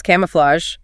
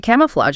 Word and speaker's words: camouflage: And how do you say camouflage? It looks tricky. It does. It's camouflage. Three syllables. Camouflage. That a is open. Ah, and the G is soft like J. Flatch. Not a hard G.